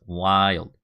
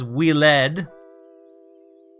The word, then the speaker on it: wild: In the case that you do not know how to pronounce my username, it is wild. And anybody who says weled, I get real angry with so angry.